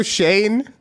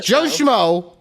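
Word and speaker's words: Schoen: Giants GM is Joo his name is Joe Shane but when she read it she was and but it's spelled s c h oen so when she saw it her brain diffused and it was just Joo easy six and 11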